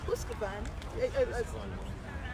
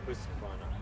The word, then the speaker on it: Husqvarna: Brian is from Husqvarna. Please pronounce it the best way. Husqvarna.